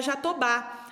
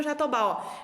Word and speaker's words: jatobá: forte também foi então o jatobá tem o mesmo são zinho que o baobá a sílaba mais forte é a última lá oba-oba jatobá e